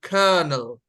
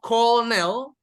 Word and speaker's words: colonel: so guys this one although we have o and O but the correct pronunciation would be colonel um and no not Cornell not Colonel but colonel